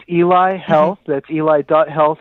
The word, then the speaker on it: Eli Health: we're starting out and correct me if I'm pronouncing this wrong Eli or Ellie health monitor what is this it's Eli Health that's eli.